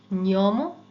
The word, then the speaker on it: gnomo: যেমন GNO, GNO, GNO, GNA, GN এর সাউন্ডটা হয় ঞ। এটা একটা যেন দন্তন্যটা একেবারে তালুর সাথে লাগিয়ে কিছুক্ষণ তারপর এটা ছাড়তে হবে, নিয়ম। ওকে, নিয়ম, gnocchi, gnocchi, legno, legno, Spagna, lavagna, gnomo, gnocchi, legno, Spagna, lavagna।